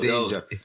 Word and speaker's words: Danga: Is it Danger? Well, when we did our research, it's spelled D-A-N. D-A-N-G-A. Okay. Yeah, That's how she used to spell it still. Okay. Lady Danger. It's Lady Danger.